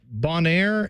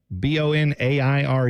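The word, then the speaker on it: Bonaire: some stuff down there Bonair and is that how you say it b o n a i r e that sounds good Bonair and Kur kurel Aruba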